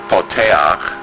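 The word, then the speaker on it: פותח: This word is poteach. It means to open. Let's pronounce it. Po, te, ach.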